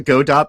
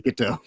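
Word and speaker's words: Godot: Everybody calls it go dot, but it's it's actually supposed to be GDO.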